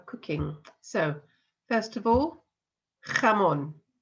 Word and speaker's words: jamón: So, first of all, jamón. Jamón. So we've got that jota sound at the beginning there.